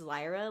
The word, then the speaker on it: Lyra: I pronounce my name as Lyra, like truth and lies.